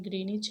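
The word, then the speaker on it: Greenwich: through ग्रीनिच यहां पर ग्रीन इस में डब्लू साइलेंट है इसलिए इसका प्रनंसीएशन ग्रीनिच है वह ब्रिटिश रॉयल ऑब्जरवेटरी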